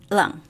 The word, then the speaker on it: Leung: Is that how you pronounce it? Lung or Ling? Leung.